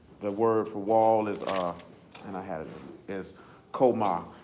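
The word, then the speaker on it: chowmah: The word is koma. It's C-H-O-W-M-A-H.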